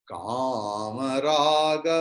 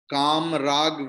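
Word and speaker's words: कामराग: Kam rag vivarjitam nahi. You have and Jyoti also. I have heard yesterday's chanting. You have to forget about that. It is Hindi. It is, though written in Hindi script, it is Sanskrit. So each and every letter will be pronounced in a full manner. Okay. Kama raga vivarjitam. Only ma there is halanta.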